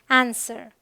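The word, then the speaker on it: answer: है rule number three कुछ words में डब्लू साइलेंट होता है बिल्कुल कंप्लीट जैसे यह है होल यह है टू यह है सोर्ड यह है आंसर ऑल राइट यहां पर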